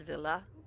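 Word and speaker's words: Ville: And my favorite singer, one of my favorite singers, his name is spelled V I L L E and it's pronounced Villa.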